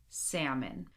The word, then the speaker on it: salmon: Skill practice: silent L. Do not pronounce the L. Here we go. Would, should, could, walk, talk, half, chalk, salmon.